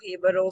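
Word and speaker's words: Jíbaro: Of Hibaro. So And if you can't find it, it's because it's spelled as Jibaro, Jabaro, which we have called it in that video.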